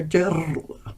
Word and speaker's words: dirl: Anyway, dirl, which is to thrill, to vibrate, to tremble or quiver. So, dirl, I should be saying. Imagine you're rolling your R's.